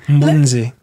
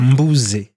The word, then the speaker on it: Mbunze: Tu as mis le N. Mbunze. Ah, je l'ai prononcé comment? Mbouze. Mbunze. Ah, tu vois, tu as le petit N là.